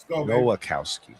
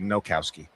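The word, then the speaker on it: Nowakowski: Noacowski. Yeah, Noacowski. It's not like you said Nokowski. Oh. Oh, yeah. I didn't want to leave out an extra syllable there.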